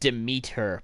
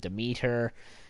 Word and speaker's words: Demeter: to pass up oh and it's pronounced to meet her by the way mm to meet her Greek god Typhon that